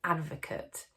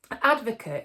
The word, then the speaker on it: ADVOKATE: i'm going to look at is something called advocate i'm not talking about advocate stuff that you